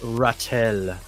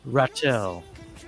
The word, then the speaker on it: Ratel: So, yes, we are here with Ratel. Am I pronouncing that correctly? You are, my friend. No, you are. Oh, okay. Right on the money. Ratel.